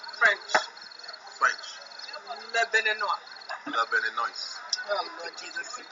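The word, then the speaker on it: Béninois: If there was no e like a man, we're going to say he's Beninois.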